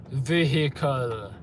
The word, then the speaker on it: vehicle: Disabled vehicle. Why did she say it like that? Disabled vehicle, okay. My interpretation of vehicle was always 2 syllables, not 3.